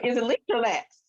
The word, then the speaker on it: Lacks: I was going to say, is it Leach or Lax? Lax, yeah, Lachs. And it's pronounced Lax, yeah.